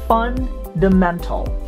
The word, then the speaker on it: fundamental: framework of accounting fundamental it's not fundamental it's fundamental fun the mental fundamental disclosure disclosure this is